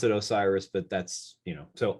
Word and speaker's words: Osirs: there's it's an acronym so it doesn't we pronounce it osiris but that's you know so o-s-i-r-s dot co